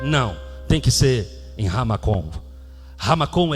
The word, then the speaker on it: Ha-Makom: Moriá significa, a expressão Moriá em hebraico é Ha-Makom. Ha-Makom. Separado. Ha, do jeito que se escreve H-A, traço Makom.